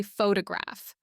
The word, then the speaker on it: photograph: For example, listen to how I say photograph. The O becomes schwa. Photograph. This is why when you try to pronounce every vowel clearly and distinctly, you actually sound less natural.